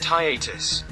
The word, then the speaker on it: hiatus: do you say hiatus okay google that's pronounced higher hiatus hiatus hiatus higher okay so we are